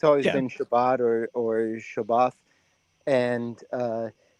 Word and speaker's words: Shabbat: They're unsaved Jewish singers, but they their music is based off of Psalms, but they're Ashkanazi. And so they pronounce Shabbat is shabas.